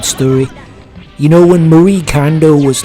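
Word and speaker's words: Kondo: And I guess they're not used to pronouncing anything Japanese, so they just got it completely wrong. They kept calling her Marie Klondo.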